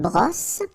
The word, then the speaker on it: brosse: Alright, and une brosse. Remember, don't insist on this final brosse.